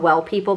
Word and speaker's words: W3LL People: This one is by, I think it's called Well People, but it's spelled W3LL People, and this is their Bio Brightening Invisible Powder.